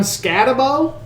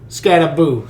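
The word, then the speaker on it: Skattebo: And that's, I don't know how to say his last name, but Cam Scatabo? Scattaboo, sorry.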